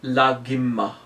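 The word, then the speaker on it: Laghima: The first syllable is La. The fourth Siddhi is Lagimma. La-gi-ma.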